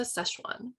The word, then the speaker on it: Sichuan: was like what's a szechuan and then it turns out it's like that's how they pronounce sichuan in american and i was like